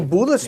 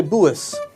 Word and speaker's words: Bullis: a Bullis mandolin AIS I keep saying buis cuz it's it's spelled with an L he said the US you can say it as Bullis but in in Poland we say buis um but this is